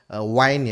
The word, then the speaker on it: Wynn: Kalau kita lihat di sini, analis pasar kripto James Wynn ya, Wine ya bacanya, baru-baru ini membagikan pembaruan